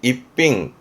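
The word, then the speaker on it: 逸品: 발음은 이츠자이. 뛰어난 인재의 이츠자이고요. 일품이 되겠죠? 입빙.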